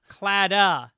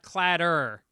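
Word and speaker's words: Claddagh: This guy, Brian from Texas, said the Irish love ring is pronounced cladda, not cladder.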